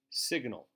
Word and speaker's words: sign: sada sada satellite satellite signal sig sig signal if you take out the AL its sign if you add the AL then we pronounce the G and we get signal signal and finally terrorist